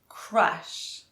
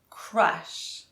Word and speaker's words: crush: And crush has the R and U sound. Crush. Crush. Okay, let's start with the word crash.